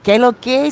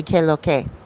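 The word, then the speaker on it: qué lo que: what's up in spanish it's usually q-u-e-l-o-q-u-e but here in the dominican republic we say k-loke like short form dc nagua is nice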